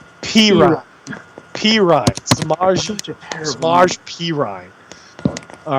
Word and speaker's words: Perine: back's name s Pine perine we had been calling him Pine for the first two three weeks yeah you did it